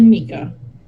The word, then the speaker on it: Micah: it's spelled as Micah, it's actually Mika.